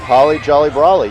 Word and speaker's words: Holly Jolly Brawley: Did I say it backwards? Holly Jolly Brawley. You got it. I got it right.